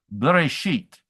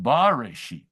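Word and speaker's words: בראשית: They read that the very first syllable, a very short b, bereshit, rather than a long bareshit. So they read it Bereshit.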